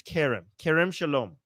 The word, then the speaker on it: Kerem Shalom: Okay, Jewish Samantha is saying it's Kerem Shalom. Thank you for helping out the pronunciation.